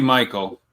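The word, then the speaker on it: Mykel: Say it for me, Ameilia. Michael. Michael. Basically Michael. Basically Michael Williams.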